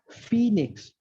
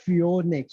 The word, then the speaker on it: phoenix: of people fail okay so there is this word which is very simple now phoenix phoenix very simple phoenix anyone can pronounce that but when you write that and then you ask someone to read it definitely they are going to read it like fiornix or something right so it is